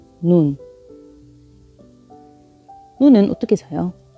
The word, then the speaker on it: ن: 다시 이렇게 한 번에 다 써보면 눈, 눈, 눈.